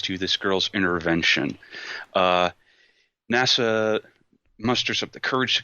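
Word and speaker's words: 星空: it's all about this uh young man named NASA yuzaki he's uh been he's grown up for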